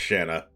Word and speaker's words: Shanna: How do you say this? Shauna or Shanna? I know I said Shauna, but I guess it's Shanna. Whatever, it's a purifying blade.